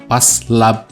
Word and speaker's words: Phase Lab: yang lain juga termasuk Paslab ya bacanya ya, Paslab lah, katakan kita baca Paslab.